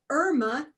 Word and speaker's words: Irma: word I are ma I know it looks like Irma to some of you and that is one pronunciation of this name but the name that my parents gave me is here how about I teach you how to say it Irma I have a lot